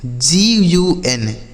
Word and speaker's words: gun: किसी भी शब्द में अगर दो कॉन्सोनेंट के बीच में यू लिखा हो तो हम उस यू का जो उच्चारण करेंगे बच्चों, वह यू का उच्चारण आ के रूप में करेंगे।